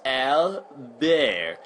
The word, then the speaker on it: Albert: Sometimes people try to be cute and pronounce his name in French, which is Albert.